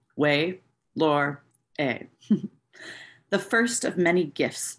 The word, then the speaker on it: Ouelhore: this written on it: W-A-Y dash L-O-R-E dash E-H. Her name, phonetically, Way Lore A.